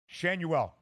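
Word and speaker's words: Schanuel: Shanuel. I'm learning it on the fly here as we go. Shanuel.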